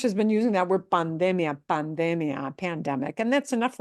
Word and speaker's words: pandemia: I of the IA, it means we punch the de, the second to the end syllable harder. So pandemia.